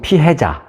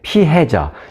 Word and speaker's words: 피해자: 때 한국말로 뉴스를 들으시면 피해자 또는 피의자 이게 얼핏 들으면 비슷한 발음이니까 잘못 이해하기 쉬운데 피해자 이번 사건에서의 피해자는 피살됐죠